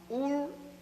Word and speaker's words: Ur: Abraham was born in the city of Ur in Chaldea. It is spelled U-R, Ur, and Chaldea is spelled C-H-A-L-D-E-A.